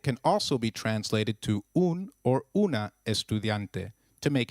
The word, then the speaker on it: un: a female student the the U in un is pronounced as double O in Ubuntu and not like the U in umbrella so try saying un